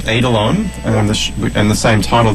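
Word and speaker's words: eidolon: was possible sounds fascinating the album is called adelon and and the same title of the show yeah and that's spelled e i d o l o n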